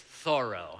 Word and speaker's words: Thoreau: right by Walden Pond, alarm bells sounded in the bookstore, and all the clerks descended upon me to correct my pronunciation. It's Thoreau.